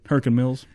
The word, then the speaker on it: Hurricane Mills: And the place is called Hurricane Mills. Well, that's not how they say it there. Right? How do they say it? Hurricane. Hurricane Mills.